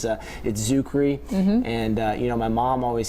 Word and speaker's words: Czuchry: Yeah, the extra C is a little tricky. It's Czuchry.